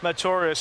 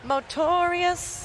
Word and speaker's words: Motorious: the ex- British Runner motorius who settled into way of life with Philip damato wait you have to say his name right it's motorious motorious motor you to say twice